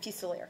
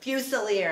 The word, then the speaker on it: Fuselier: Professor, you said say it like chandelier. Yeah, Fuselier. Fuselier.